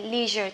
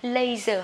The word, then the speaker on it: leisure: dùng từ gì đây, leisure time, thì bang điểm sẽ cao hơn các bạn nhé. Ok, leisure, leisure time hay là leisure time, nhưng không được đọc là laser hay là leisure nhé.